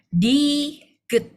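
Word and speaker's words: 디귿: Kalau misal dia di awal bacanya D. Tapi kalau dia posisinya di akhir atau di bawah bacanya T. Jadi ini bacanya diget.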